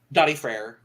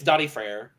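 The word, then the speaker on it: Daði Freyr: it who is it daddy freyr i don't know wait yeah i do yes i was like you probably do yes i didn't know that's how you pronounced it yeah it's dotty freyr okay it's just i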